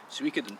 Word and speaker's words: Suikoden: backlog of JRPGs, and at number 39 is Suikoden 2. Say that again, I liked it. Suikoden 2. I've heard it pronounced different ways.